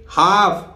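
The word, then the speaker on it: half: इसी तरह देखिए हाफ, यहां एल साइलेंट है, एल का जब नंबर आएगा मैं बताऊंगा कि एल कब कब साइलेंट रहता है।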